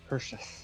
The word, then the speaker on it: Perseus: Perseus. That's the proper pronunciation. Obviously, Yeah. that's the Greek. Right. Yes, the Greek accent.